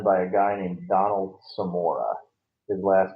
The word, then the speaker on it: Semora: But the cover for the Protocols of Uma was done by a guy named Donald Samora. His last name is spelled Semora.